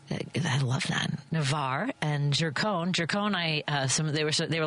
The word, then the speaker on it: Gercon: I say Gercone, but it's Gercone. It is Gercone. So neither. Am I supposed to say Gercone? So no, it's I pronounce it Gercone.